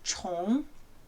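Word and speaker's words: 虫: insect or worm and we pronounce this character chong now the character chong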